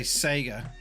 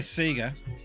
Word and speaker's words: Sega: how I pronounce something usually it's because I say Sega or sorry Sega it slowly got to the point now where I'm starting to call it Sega it's really hard I